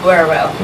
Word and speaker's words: Walterboro: Walterboro.